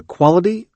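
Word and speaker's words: QALY: a metric called the quality adjusted life year also known by its acronym q a l y pronounced quali in order to help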